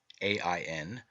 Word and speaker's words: Ain: in this myth john spelled a e n e i o n and a i n three forms of the word and all pronounced ain represents the redeemed and